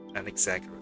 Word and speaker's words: Anaxagoras: Anaxagoras, sorry, that's how you pronounce it.